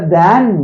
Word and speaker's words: than: He is taller than me. Okay, you have to pronounce this word as than.